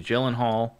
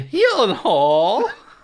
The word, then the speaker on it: Gyllenhaal: cast alone and Maggie Gyllenhaal you know directing oh you said it wrong Maggie he Hall sorry was that better